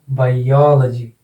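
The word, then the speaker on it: biology: Syllable बन रहा है इसमें हो, तो इसका उच्चारण हो जाएगा बायोलॉजी, एक्सेंट लग जाएगा यहाँ पर, ठीक है।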